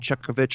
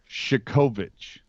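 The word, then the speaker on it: Chekhovich: Now, the other guy, it's Shikovich. It's not Chekovic. It's not that. It's not a ch. It's sh. It's Shikovich.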